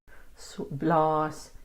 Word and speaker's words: blaas: These are two long A's because you need phonetically R, blaas. You need to see the two A's to make the sound.